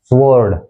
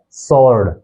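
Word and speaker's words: sword: डब्लू ओ आर डी इसे हम आमतौर पर बोल देते हैं स्वर्ड तलवार के लिए स्वर्ड जबकि इसका जो एक्चुअल प्रोनंसिएशन है वह है सर्ड सर्ड यानी डब्लू जो है इसके अंदर साइलेंट है तोय बोला जाएगा शर्ड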